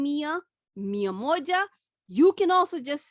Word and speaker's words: mia: like the girl's name mia miyamoja you can also just say mia mia is acceptable so 100 mia or miyamoto to be very specific 100.